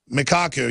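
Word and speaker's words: Michio Kaku: Vortex leading physics professor michiku how do you pronounce that I hear his name on the news all the time but a k a k u mikaku yeah we always try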